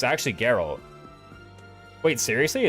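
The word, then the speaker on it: Jeralt: Oh, it's actually Geralt. Wait, seriously, it's Geralt? This whole time I thought it was Gerald.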